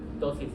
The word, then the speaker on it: ptosis: Ptosis es caída, la ptosis palpebral. Se escribe con P al inicio.